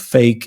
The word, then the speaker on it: FAIK: then my new book fake it's spelled faik k um is out there